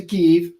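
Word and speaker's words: Kyiv: this is is uh Kei that's how you pronounce it right yep ke it's the capital of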